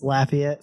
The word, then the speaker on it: Lafayette: Say it right. It's Lafayette. Sorry, Lafayette. Like a Laffy.